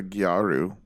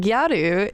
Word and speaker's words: gyaru: What is a Gyaru? So Gyaru is taken from, it's a borrow word, so it's like the Japanese pronunciation of the word gal.